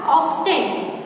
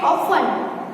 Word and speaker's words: often: Okay, अब हम दूसरा देखेंगे OFTEN। वैसे भी हम देखें तो इसको क्या बोला जाएगा, ऑफ्टन, है ना, लेकिन इसका साउंड क्या होता है, ऑफन। ऑफन यानी कि यहाँ पे कौन साइलेंट है, किसका साउंड नहीं आ रहा है, ओफन, यानी कि टी